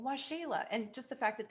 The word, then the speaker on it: Waxela: while to get it if you see it written it's spelled kind of strangely so why shayla you don't know me